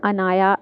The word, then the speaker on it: अनाया: Name है Inaya N के नीचे ज़ेर के साथ, और अनाया एन पर ज़बर के साथ, दोनों ही प्यारे नाम हैं और दोनों के मीनिंग अच्छे हैं।